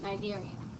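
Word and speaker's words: Cnidarians: categories sponges and then Nigerians see is silent nigarian and I'm going to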